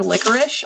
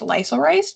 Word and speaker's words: licorice: Like the word licorice, I always thought that was pronounced lysorice because I read it in a book and didn't hear it out loud.